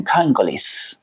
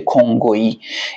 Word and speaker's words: کنگویی: نمیگن کنگویین این رو توجه میگن کانگلیس کانگلیس میشه کنگویی این واژه رو خواهش میکنم دوستانی که علاقهمندن چه با دیآر سی چه با کنگو در ارتباط باشن به ذهن بسپرن که خب اشتباه تلفظ نشه چون همیشه اشتباه و